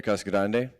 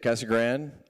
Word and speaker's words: Casa Grande: Appreciate you guys being here today, and welcome to Casa Grande. You can say it Casa Grande or Casa Grande, but you have to say it one way or the other. Otherwise, you're mispronouncing it, just FYI.